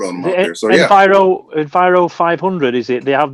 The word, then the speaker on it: Enviro: Yeah, they're in Enviros, aren't they?